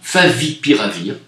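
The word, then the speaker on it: favipiravir: composée à base d'oeuf à vivre à venir favi pire à vire comme ça se prononce totalement sûre et efficace a expliqué le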